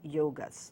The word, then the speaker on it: yoga: gonna talk about is yoga's Yoga Yoga actually it is it's not Yoga why oh gee it's yoga which is the proper pronunciation and I'm going to